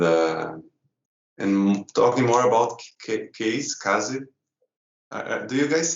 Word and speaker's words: Kaze: so forth and uh and talking more about case Kazi do you guys say case or kazin I used to say you would know say